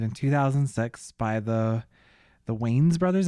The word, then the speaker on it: Wayans: 2006 by the the Wes Brothers. Is that how you say it? Yeah. I've always said ways. It's like spelled like W A Yan Ns.